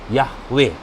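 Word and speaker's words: Yahweh: nama Tuhan yang benar yhwh tetragrammaton sehingga diucapkan yahwe nama Bapak Mama Bapak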